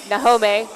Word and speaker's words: Nahome: And uh thank you to you guys at home to tell me that it's Nahome. I appreciate the the correction to the pronunciation.